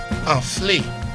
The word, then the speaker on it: anflé: Anflé, A-N-F-L-E, pronounced as A, Anflé.